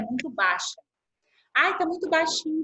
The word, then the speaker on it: baixa: Aí a gente viu que a palavra baixa, eu posso falar assim, baixa.